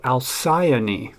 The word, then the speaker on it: Alcyone: is a budget Spyderco this is the Spyderco alcyani and yes that pronunciation is correct according to Google um spelled